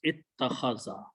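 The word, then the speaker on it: اتَّخَذَ: So we pronounce this alif as a ta. So it becomes two tas. So two tas can be written with a shadda. So this final word is ittakhaza. Ittakhaza.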